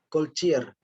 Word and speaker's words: Goldziher: ini pemikir dari Jerman jadi tiga dibaca dengan spelling cara baca Jerman itu ignat gold Z ganti c c dan H itu tidak dibaca goldziher dan Josep susah eh